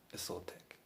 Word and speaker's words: Isotec: Isotec. That's how to say it. It sounds Aztec, but he's saying like he was from the Middle Eastern.